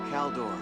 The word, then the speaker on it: Caeldori: the uh with hana's hair color but yeah calor and that's how you pronounce the name which is yeah I I